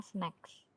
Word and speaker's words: snacks: Ini bacanya snakes ya guys. Kalau ular tuh bacanya snakes. Kalau makanan cemilan atau makanan ringan tuh namanya snacks. Jadi beda. Snack sama snakes beda ya.